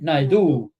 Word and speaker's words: Naidu: Naidu. Ah, accent on the on the second syllable.